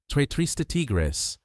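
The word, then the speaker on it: tres tristes tigres: Trrista Tigris. Three sad tigers. The Rs are the tricky part.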